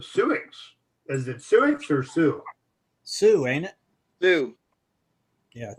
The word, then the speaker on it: Sioux: Is it Sioux or Sioux? Sioux, ain't it? Sioux. Yeah, I think Okay. It's spelled as Sioux, but it's pronounced Sioux. S-I-O-U. Sioux.